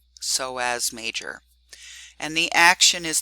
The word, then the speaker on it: Psoas: In fact, sometimes they are named together as the iliopsoas, so that P is silent, Psoas Major.